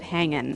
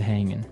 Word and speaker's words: hanging: But usually you don't really pronounce the G in this context cuz it's very informal. So, how's it hanging? How's it hanging?